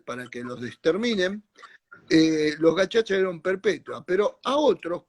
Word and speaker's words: gacaca: Entonces se crearon los gachachas, se escribe gacacas, para los que quieran googlearlo.